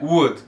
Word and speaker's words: would: In the world, right now, what would, lembrando que aqui, ó, would, não would, é would. Mesma lógica do could. Você só pronuncia o U.